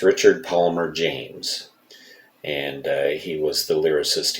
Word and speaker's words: Richard Palmer James: last video and I apologize for that it's Richard Palmer James and he was The Lyricist he wrote all